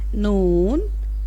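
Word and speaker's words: نون: Noon.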